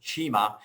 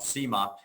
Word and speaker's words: CIMA: actually pronounce it well being an italian company they actually pronounce it chima not sima but um but but